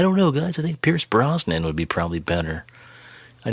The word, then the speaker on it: Pierce Brosnan: 2 they uh casted pierce bronson for cable pierce brosnan yeah god bless your mispronunciations yeah double oh seven